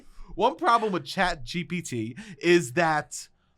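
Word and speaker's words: ChatGPT: One problem with chat GPT is I'm saying B. You were saying B. It's P.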